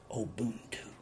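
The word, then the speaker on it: ubuntu: practice they practice a system that was called obuntu oh boom two and you spell it u n b u t u and it is pronounced obuntu oh boom two and it means that all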